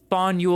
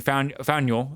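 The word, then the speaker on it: Faneuil: The name of this building is pronounced fuel or fo.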